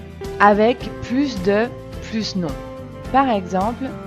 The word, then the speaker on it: plus: mange plus que moi on prononce plus quand il est devant un adjectif qui commence par une consonne il est plus vieux que ma soeur on prononce également plus quand il est devant un adverbe les on dort plus longtemps que moi enfin on prononce l'adverbe plus plus quand il est devant un nom avec une voyelle parce que nous devons faire la liaison par exemple cette maison